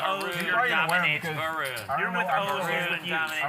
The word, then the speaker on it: Varun: Your name is pronounced the same as Harun? Yeah, with a V. With a V, but I prefer to think my name is spelt better. Varun.